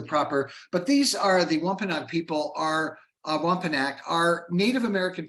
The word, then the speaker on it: Wampanoag: So in 1621, colonists from England and the native Wampanoag people shared a feast that is said to be the first Thanksgiving feast.